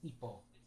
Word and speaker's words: hipo: Yeah, not supposed to pronounce the H in Spanish. So hiccup is hippo. Even though it's spelled with an H at the beginning, it's hippo. Not like hippo.